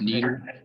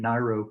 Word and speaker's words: Nyro: Only one thing, you pronounced her name wrong. It's Nyro. I would have never, but I did hear that that it's Nyro, and and I've I'm so used to saying Niro.